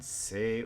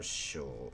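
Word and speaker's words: 姓: Sei or sho is a surname. Sei or sho. When you want to use the word surname, it's pronounced sei.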